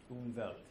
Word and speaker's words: Umwelt: The W is spelled, it's spelled with a W, but it's pronounced with a V. Yeah, like Hawaii. Umwelt.